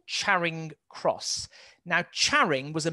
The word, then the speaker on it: Charing: Just notice here, there's an area called Charing Cross. Now, Charing was a medieval village. It would have been pronounced Charinge in the Middle Ages.